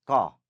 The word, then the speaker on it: क: व्यंजन मतलब क्या होता है?